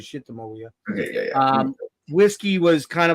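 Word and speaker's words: Sitamoia: No, Little Darling's a B-side, as is Shitamawia, however you want to pronounce it, although he says Shitamawia.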